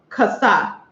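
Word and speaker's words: חסה: In Hebrew, lettuce is pronounced kasa.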